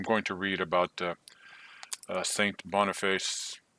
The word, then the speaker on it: Boniface: I always thought it was Boniface, but then I realized in this little text here that he is from England. So I don't think you pronounce it as if it's Italian. So I think it just is Boniface.